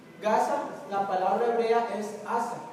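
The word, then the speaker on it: עזה: Gaza, la palabra hebrea es asa, y significa fortaleza. Y desamparada, la palabra hebrea es azuba. Entonces pronuncien asa, azuba.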